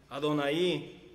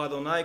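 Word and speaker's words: Adonai: como elohim el shaddai adonaí o ado nay como quiera decirle como quiera pronunciarlo todos esos nombres en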